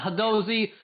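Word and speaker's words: Hadozee: I can't pronounce the monkey race name. Hadozi. Yeah, Hadozi.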